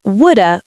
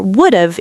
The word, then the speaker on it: would have: Would have sounds like woulda or would've in fast speech. Native speakers rarely say would have fully. They contract it. I woulda gone equals I would have gone.